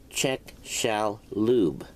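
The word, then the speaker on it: Chicxulub: the asteroid fell in the Yucatan Peninsula at chechalube pronounced check shall Lube Mexico the hypothesis is named after the Father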